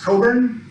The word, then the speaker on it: Cockburn: That's the talk, and the final note just is, my last name is pronounced Cockburn. That's a silent CK, comes from Scotland.